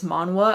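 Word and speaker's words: manhwa: it's a Korean manwa it's like manga but it's manwa I believe is how you pronounce it um and this is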